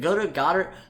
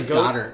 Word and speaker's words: Goedert: Is it Goddard? I'm gonna say Goddard. I'm gonna say Goddard because it rhymes with Joe Dirt, and I like that more.